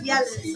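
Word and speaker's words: Jelle's: I know it's pronounced. I know it's got a G, but it's Yella's.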